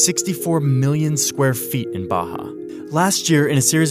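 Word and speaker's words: Barra: is a place called Baja RS are pronounced like H in Portuguese this is a new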